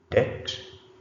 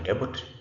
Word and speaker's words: debt: Debt. The word is not debut. It is debt. Debt. B is not pronounced.